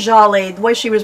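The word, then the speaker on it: Djali: You know, we used to pronounce it Dijolly, but... Is it Jolly? I think it's Jolly, the way she was pronouncing. I think the D is silent.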